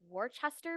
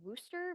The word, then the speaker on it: Worcester: And because I'm from the Midwest, I always say it's Worcester v. Georgia, but out here in the East, apparently it's pronounced Worcester v. Georgia, which makes no sense to me.